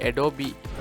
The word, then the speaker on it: Adobe: Adobeன்றது வந்து Adobe, அதாவது Adobeன்னு உச்சரிப்பாங்க. இந்த Adobeன்றது வந்து ஒரு அமெரிக்காண்ட ஒரு சாஃப்ட்வேர் கம்பெனி.